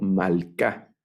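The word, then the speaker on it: מלכה: femenino singular Solo que esta palabra ahora la leo malcá mal k melec malcá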